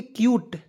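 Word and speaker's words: cute: तो यानी देखिए क्यूट, सी यू टी ई, कूट नहीं पढ़ना है, क्यूट पढ़ना है। क्यों, देखिएगा सी का उच्चारण आधा क के रूप में, अंतिम में आपको जब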